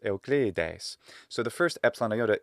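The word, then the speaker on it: Εὐκλείδης: and how it's pronounced monogreek pronunciation afgridis but in the illusion pronunciation which represents that roman classical period roughly of 100 bc to 200 a.d but of course as a convention can work for the whole span of ancient greek by design it is but what is it and actually that arkhan's time and nucleus time how did he say his name almost certainly was something more like euclides so the first epsilon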